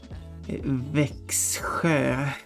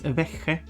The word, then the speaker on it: Växjö: of pronouncing would be Växjö, but I mean, considering the spelling has been altered, because I assume that's what it comes from. But nowadays, like at least locally, it's just pronounced as Växjö.